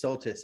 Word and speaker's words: Soltisz: And thank you for telling us it's Soltisz. I have been pronouncing that wrong.